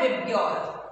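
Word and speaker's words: VIBGYOR: इसको हम लोग प्रोनाउंस करते हैं विबग्योर.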